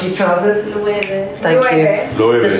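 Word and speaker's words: Loewe: How do I pronounce these trousers? Luebe.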